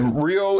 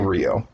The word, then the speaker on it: Ryo: Rio is actually how you would pronounce the name, but they were saying Rio.